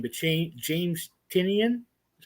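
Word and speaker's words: Tynion: to mess up the guy's name but james tinian is how you say his name yeah he's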